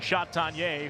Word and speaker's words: Chatagnier: It brings up Peyton Chatagnier, who loves to eat cake by the ocean. That's how you pronounce that.